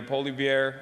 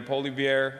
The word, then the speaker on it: Poilievre: And it was actually one of my only failed predictions of 2025 when I thought that Pierre Poilievre, am I saying that right?